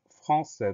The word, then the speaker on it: français: Le mot suivant, c'est un mot qu'on connaît bien, c'est le mot français. Première syllabe, franc, F-R-A-N.